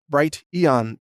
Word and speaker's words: Brighteon: other topics so use Brighton calm it's spelled like the word bright followed by Eon gon bright Ian calm it's the YouTube alternative